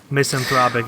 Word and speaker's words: misanthropic: Good As It Gets misanthropic is the correct pronunciation oh yeah I'm so